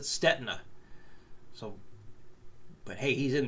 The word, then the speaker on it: Stetina: And he's familiar with Troy's stuff, and he pronounces his last name Statina. I always pronounced it Stetina. So, but hey, he's in the industry, so I'm going to go with him. It's Troy Statina.